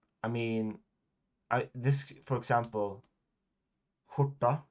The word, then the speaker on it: skjorta: I mean, this, for example, skjorta, right? Skjorta is how you pronounce shirt in Swedish. Skjorta, SKJORTA.